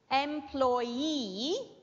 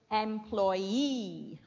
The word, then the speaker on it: employee: word is different okay employee because the stress goes on E with all the other